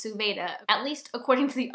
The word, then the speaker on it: Suvada: Cruel Design by Emily Suvada, which I've been pronouncing Suvada, and apparently it's Suvada, at least according to the audiobook narrator.